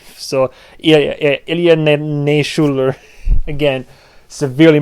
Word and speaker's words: Ilya Naishuller: this, I think it's Ilya Naishuller. I'm saying it with accent because the man is Russian, I believe. So Ilya Naishuller, again, severely mispronouncing his name.